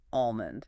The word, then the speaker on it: almond: Almond. Get rid of that L. Mastering the silent L in words like almond or salmon is a huge phonetic milestone.